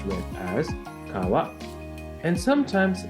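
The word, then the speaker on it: 川: Japanese reading or kunyomi river is pronounced as Kawa in man yoga this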